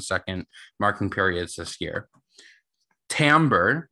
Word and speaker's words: timbre: marking periods this year timber that's t-i-m-b-r-e uh it's a i believe it's a french word which is why it's spelled so weirdly but timbre is the